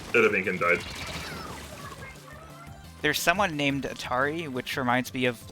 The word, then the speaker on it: Atari: But also, it's pronounced Atari, and so the game company Atari has always pronounced their name wrong.